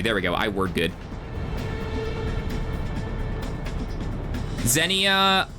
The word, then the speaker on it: Xenia: Zenia o is pronounced as zenia is pronounced zenia.